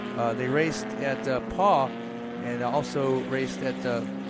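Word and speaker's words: Pau: they raced at uh paw and also raced at the tron hopefully i'm pronouncing that correct oh being so close to canada well mo yeah you gotta say poe oh yeah and uh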